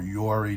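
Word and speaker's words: Yoroi: Yori is a soft wallet, or Yori, depending on how you want to pronounce it, is a soft wallet in Cardano.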